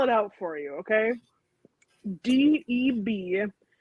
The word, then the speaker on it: Deborah: I'm gonna spell it out for you, okay? DEBORAH. Deborah.